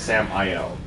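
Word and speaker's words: Samael: So it's not Samuel, it's Sam-I-L.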